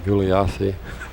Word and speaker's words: Gulyassy: Galassi. All right. It's an unusual name. I've never seen it before. Apparently you don't pronounce that Y.